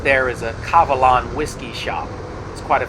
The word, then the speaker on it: Kavalan: those around town here kavalan being a taiwan brand of whiskey uh world-renowned brand and it's actually pronounced german not sure why they started the name with a k instead of a g but that's the way